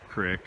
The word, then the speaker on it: creek: Crick or creek, however you want to pronounce it.